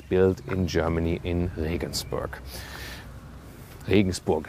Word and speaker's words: Regensburg: Regensburg is the German pronunciation. Listen and repeat. Regensburg. It's like Rain Castle is the name of the city.